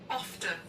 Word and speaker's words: often: 영국 사람들은 이 T까지 발음해서 often 이렇게 해요. 근데 미국 발음 볼게요. Often. often. 오픈. 미국 사람은 그냥 often으로 끝나고 영국 발음 봐요. Often. often. 영국식 발음은 T도 발음해줘요.